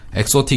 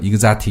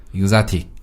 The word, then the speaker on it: exotic: 그래서 이것은요, exotic 이렇게 발음하지 않고요, exotic 이렇게 발음하거든요. 강세가 O에 있습니다. exotic. 이그자틱?